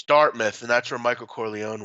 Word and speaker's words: Dartmouth: all sorts of stuff pronounced that dark mouth is that disrespectful to the University you're gonna bet our mouths it's Dartmouth and that's where Michael